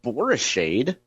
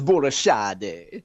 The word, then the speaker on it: Borishade: 5, I know that Millicent's last name is not Borishade. That's the way a typical street hoodlum from Spanish Lake like me would pronounce it. No. It's Borishade. I think it might be Italian.